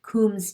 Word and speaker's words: Coombs: should have an indirect coombs test and that combs is spelled like a comb only it's got an extra o it's c-o-o-m b is in boy s and i'm sure that